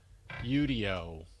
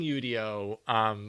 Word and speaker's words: Udio: Um, so so I've been using Udio, which I think is the correct pronunciation is Udio. I've been using Udio for the last couple